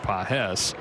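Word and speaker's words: Pagés: Spelled the same way as Andy Pajes, but he pronounces it Pajes.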